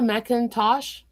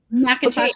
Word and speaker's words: Macintosh: Miss Miss Mintosh, right? Did I say it right? Macintosh. Kind of like your computer, but can you can you introduce yourself?